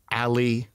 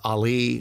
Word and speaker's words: Ali: It's, you know, from a young age, I'm Ali or Ali or like Muhammad Ali. That's the, you know, they saw Ali, so I'm Ali. So there's, you know, there's an emphasis on a different syllable, as they say.